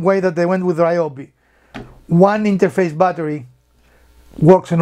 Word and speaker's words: Ryobi: taking a page from ryobi or ryobi as it's correctly pronounced which is again the